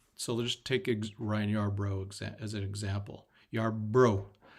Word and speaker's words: Yarbrough: let's take a Ryan Yarbrough as an example you're bro you are broke not Yarborough I gotta keep my I always want to add the extra syllable or extra o in there yard Burr Yarbrough or